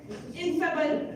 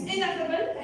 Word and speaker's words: ineffable: Youth leader Nishad said ineffable. It's ineffable. It's not ineffable. It's ineffable.